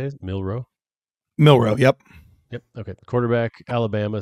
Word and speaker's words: Milroe: Milroe, yep.